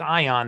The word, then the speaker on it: AON: But AON um pronounced ion, they developed these vests